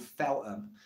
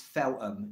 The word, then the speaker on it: Feltham: hometown which is called Feltham it's not Feltham it's Phelim you don't pronounce that and a lot of